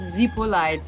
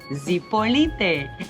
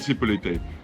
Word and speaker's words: Zipolite: this what is not the right way to pronounce zipoli zipolite a lot of people call it zipolite it is not that difficult if you come here just learn how to pronounce it it's called zipolite so if you want to blend in with